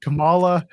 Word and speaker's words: Kamala: I couldn't pronounce Kamala and Camala. So, I had to be like, which one is the right one? In this case, it's Camala. The wrestler is Kamala. The politician was Kamala.